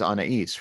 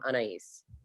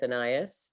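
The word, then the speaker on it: Anaïs: is unease right yeah the person i was named after who is anais nin yeah was adamant about pronouncing her name on ice but i was born in the south and i'm lucky to have escaped with anayas because most people there say an ass and i don't really care how you pronounce my name as long as it's not anus that's not not nice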